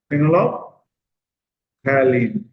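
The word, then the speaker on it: phenolphthalein: এইটাকে একসঙ্গে উচ্চারণ করবে, ফেনলফথ্যালিন, ফেনলফথ্যালিন। ঠিক আছে, হ্যাঁ, স্পেলিংটা একটু ভালো করে দেখে নাও, ভুলভাল লিখো না যেন। ফেনলফ থ্যালিন, ফেনল অফ থ্যালিন, LEIN কিন্তু, হ্যাঁ।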